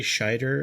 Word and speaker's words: Scheider: And it's got Roy Scheider in it, I believe is how you pronounce his name.